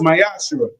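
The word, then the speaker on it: מעשר: Tithe, which is a commandment you can find in numbers 18 21 in Malachi 3 8-10 means 10th in Hebrew, is pronounced myashu.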